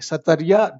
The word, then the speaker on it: Sattriya: इसका प्रोनाउंसिएशन होगा SATTRIYA, सतरिया dance.